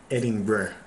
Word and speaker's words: Edinburgh: And it's pretty funny, because all the Scots, when they pronounced Edinburgh, they pronounced it Edinburgh, like Bruh, Edinburgh.